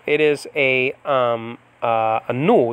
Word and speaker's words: nu: It is a nu. It's called the nu. Nowadays it's called ni, but it's called a nu in Biblical Greek, and that's an N.